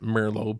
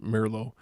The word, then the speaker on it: Merlo: I know I pronounce it Merlo, but as everybody where I come from pronounces it Merlo.